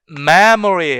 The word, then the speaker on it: memory: 그래서 여기에 지금 요 부분 요 사이에서 슈아 사운드가 삭제가 돼 가지고 실질적으로 어떻게 발음하냐? mystery가 아니라 mystery 해 가지고 거기에 슈아 사운드를 아예 제거해 버리는 거죠. memory 했을 때 memory 할 때 사운드, 슈아 사운드로 완전 삭제해 버리는 거죠.